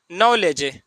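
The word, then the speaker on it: knowledge: पढ़ेंगे सिर्फ नो पढ़ेंगे जैसे और नलेज के एन ओ डब्लू एल ई डी जी इसको पढ़ेंगे नलेज नॉलेज मीस होता है ज्ञान देखिए के के बाद ए आया है और एन के बाद कोई भवेल आ गया है तो के क्या हो जाएगा साइलेंट हो जाएगा के का उपयोग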